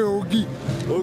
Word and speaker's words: Ogy: les gens ils m'ont filé un ce briquet Ogy Ogy le BE tu vois merci Ogy Ogy Ogy ça s'écrit comment Ogy oua o g y Ogy